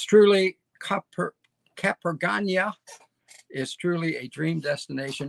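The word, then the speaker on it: Capurganá: The little seafront town of Capergana. See that little grave over the N? It means it's pronounced like the first N in onion.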